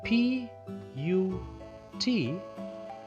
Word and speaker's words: put: but hut but but when we write P u T it doesn't rhyme with Hutten but it doesn't because it's sound at the end differs this is part this is but but this is put and put doesn't sound like hot or but so although the letters